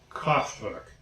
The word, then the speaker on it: Kraftwerk: Kraftwerk.